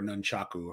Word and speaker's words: nunchaku: SI comes with two nunchuks or nunchaku however you want to pronounce it and then you